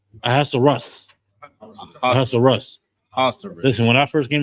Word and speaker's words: Ahasuerus: How do you pronounce his name, Uriah? Ahasuerus. Ahasuerus.